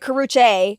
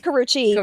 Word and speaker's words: Karrueche: Well, first of all, Drake said my name wrong. He said Karuche. It's Karuchi, but whatever.